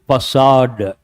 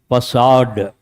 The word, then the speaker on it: facade: Facade. Imagine the spelling is F-A-S-A-A-D or F-E. What do you say? Facade. That's how you have to pronounce.